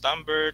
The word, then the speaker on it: timbre: It pronounced as timbre, timbre.